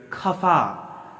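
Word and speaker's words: ख़फ़ा: फिर खफा, खफा, ख गले से आना चाहिए, दांत से नहीं।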